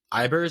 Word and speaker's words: Ibers: You're working with Professor James Ibers, I think is how you pronounce it.